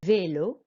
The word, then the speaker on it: vélo: And then vélo, we just raise our voice on the E because it's got the accent on there.